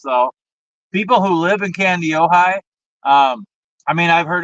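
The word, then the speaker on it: Kandiyohi: of fun to say wow candy Ohi pretty close try it again candy Ohi yes C ohigh very good you know what's really funny about this though people who live in candy ohigh um I mean I've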